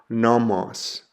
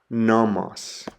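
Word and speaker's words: νόμος: The next letter is a nu, and a nu makes an N sound like the word nail. The example I have there is the word for law or instruction, and it's pronounced nomos, nomos.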